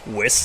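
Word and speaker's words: Weiß: Number 7, West Survive. No, I didn't do a typo. That's a German B, and it converts to a double S when you pronounce it.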